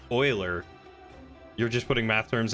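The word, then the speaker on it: Euler: you did it champ oh pronounced Oiler you're just putting math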